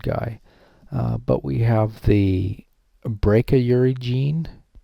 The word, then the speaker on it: brachyury: But Langman, the chiropractic board, still call it the brachyury gene. I call it brachy. That's how I learned is brachyury, but it really should be pronounced brack, like back.